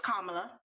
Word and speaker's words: Kamala: was for you well first we have to pronounce her name properly so it's kamala i know i think everyone is entitled to